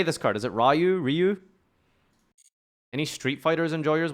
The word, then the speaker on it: Ryu: name in the chat what how do you pronounce R Yu Jonathan okay most of you are saying Ryu